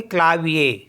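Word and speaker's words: clavier: हैं ए सेकंड है सी एल ए वी आई ई आर तो यहां पर भी लास्ट में ई आर है इसको पढ़ेंगे ए तो इसको पढ़ेंगे क्लाविया क्लाविया मींस होता है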